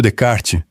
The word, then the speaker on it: Descartes: E o próprio Descartes, o homem cujo S mudo estão nos ensinando a respeitar, publicava como Cartésios, e